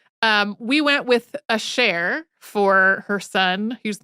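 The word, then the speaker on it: Asher: name pronounce it and it's also the more French way to pronounce it and so since most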